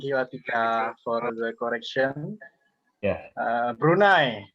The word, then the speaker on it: Brunei: which is around twenty something to thirty something brunei dollars right and i agree that is the embraced brunei clothing crisis that is all from me thank you okay thank you for the correction yeah brunei not brunei brunei guys tonight this has